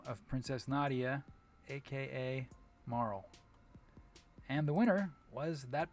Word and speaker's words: Marle: And also, for anyone who is interested, I one time got yelled at for pronouncing M-A-R-L-E as Marl. Okay? Some people say Marley, including, to my knowledge, #1 speedrunner of Chrono Trigger, Puwexel.